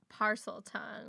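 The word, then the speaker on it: Parseltongue: I want to talk about parcel tongue, or is that how you say it? Parcel tongue, yeah.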